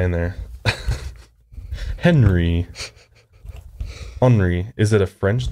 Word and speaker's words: Henri: It's like pronounced Henri Paul. It's not Henry.